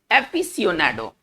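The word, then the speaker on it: aficionado: देखिए, एफिसियोनाडो, इसका जो उच्चारण हम करेंगे वो इस तरह से करेंगे, एफिसियोनाडो। इसका उच्चारण हम इस प्रकार से करेंगे, एफिसियोनाडो।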